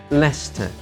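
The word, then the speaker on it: Leicester: the Soviet post so he please letter L Lester Lester City Football Club stand the world in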